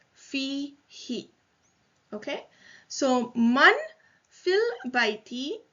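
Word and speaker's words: فيه: They don't change cases, but for ease of pronunciation, the who is pronounced as he when the preposition fi precedes it. So it is fi he.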